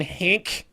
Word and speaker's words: Henk: Also going to be talking about Action Henk. It's Henk. It's not Hank. It's not Hank. It's Hank. Hank's It's not Hank. It's not Hank, guys. Rhymes with spank and bank.